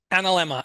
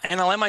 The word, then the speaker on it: analemma: say it tell me how to say it analemma analemma is actually power symbol of the sun if